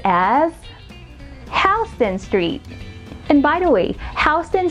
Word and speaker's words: Houston Street: So anywho, it's Houston City and the street is pronounced as Houston Street.